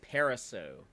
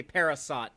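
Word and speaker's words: Parisot: and directed by Dean paraso it's a silent t on the end don't don't say parasat y'all that's wrong that's incorrect I'll see what I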